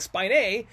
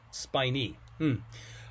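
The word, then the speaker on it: spinae: I know it looks like spine a but that's not Latin. That's not correct Latin pronunciation. It's spiny H.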